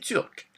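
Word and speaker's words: turque: Turc et turc. It's the same pronunciation, but a bit of a different spelling.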